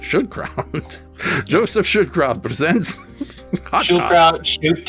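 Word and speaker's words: Schildkraut: real name is Joseph I think it's Shield crowd I should just say Shield crowd she should crowd okay now that's fun to say now that I know how to say it should crowd Joseph should crowd presents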